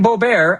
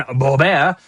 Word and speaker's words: Boebert: door next story Lauren Boebert and I know I'm saying it wrong because I like to French it up Lauren Boebert son charged with child sexual exploitation.